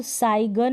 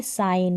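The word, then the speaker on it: sign: जैसे इसको साइगन नहीं बोलेंगे, आप बोलेंगे साइन, क्या प्रोनाउंस करेंगे, साइन, ना कि साइगन।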